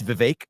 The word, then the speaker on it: Vivek: It's Vivek like cake.